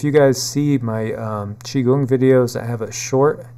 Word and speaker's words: qigong: energies and if you guys see my um chiong videos I have a short chiong video which